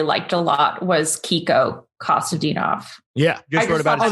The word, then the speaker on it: Kostadinov: I really, really liked a lot was Kiko Kostadinov. Yeah. Just wrote about it. That's how you, wait, can you pronounce that?